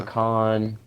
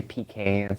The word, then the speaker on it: pecan: it's So pecan. Some people say pecan. Some people say pecan. Some say pecan. It just depends on how you say it.